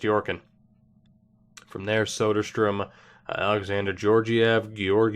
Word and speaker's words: Georgiev: and then chest Yorkin from there Soderstrom alexander Georgiev georg e EV I'm gonna go with georgiev